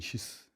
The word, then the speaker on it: Nepenthes: But one of the bands that I really like and have for quite a long time, Nepenthes, Nepenthes, Nepenthes is how it's pronounced in Japanese.